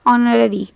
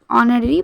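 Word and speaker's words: honorary: वो काम जिसके लिए हमें सैलरी पेड ना की जाती हो उसे कहेंगे ऑनररी। Okay, ऑनररी, H silent है, ऑनररी पढ़ेंगे इसको।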